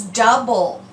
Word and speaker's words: double: That word is double. And the OU, once again, is saying a short U sound.